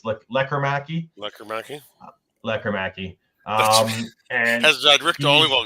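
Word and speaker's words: Lekkerimäki: Jonathan Lekkerimaki, as I've now been told to say it by by the media. There's no Lekkerimaki, it's Lekkerimaki.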